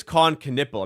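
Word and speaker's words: Kon Knueppel: It is Con Canipple. I'm just saying it's it's spelled Canal.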